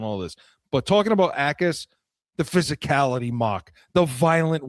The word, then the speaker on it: Gabe Jacas: They got edge in Gabe Jacas out of Illinois, and it's with a J, Jacas, but it's pronounced Jacas, Gabe Jacas.